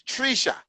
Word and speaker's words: Treesha: Because it sounds like tree and sha. Is that right? Or is it No, you're saying it right, Treesha. Treesha? I Yes. don't know because I know I have a friend named Trisha. So I'm like, Trisha? No, Hmm. it's not Trisha, it's Treesha.